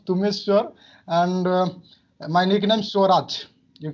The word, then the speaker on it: Tumeshwar: You can pronounce Tumeshwar, and my nickname Swaraj.